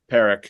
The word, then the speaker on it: Parekh: Parekh.